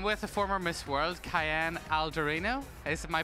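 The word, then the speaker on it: Kaiane Aldorino: I'm with the former Miss World, Kaiane Algorino. Is my pronunciation okay?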